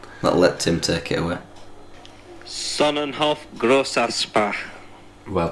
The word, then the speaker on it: Sonnenhof Grossaspach: Sonnenhof Graverspach. It means 2 S's, so I'll let Tim. What? Let Tim take it away. Sonnenhof Grossaspach.